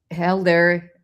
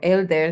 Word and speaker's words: Helder: So Helder, or Elder, depending on how you pronounce it in Spanish or in English, has been participating with